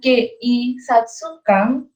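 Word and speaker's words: 警察官: Jadi walaupun tulisannya Keisatsukan, kita bacanya tetap panjang di sininya. Jadi kayak Keisatsukan.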